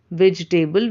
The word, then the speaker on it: vegetable: How do we pronounce that? Generally we say vegetable. Vegetable we say, but it's not correct.